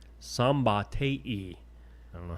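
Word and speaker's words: Szombathely: The Hungarian name is pronounced Oh, it's not as bad as it looks. Sambate. Sambate.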